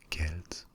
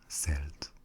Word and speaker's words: Celt: To begin with, should we use the pronunciation Celt or Celt? Actually, I will use Celt in this video, but the two are acceptable.